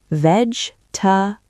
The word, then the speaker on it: vegetables: Vegetables, veg-ta-bles, say slowly.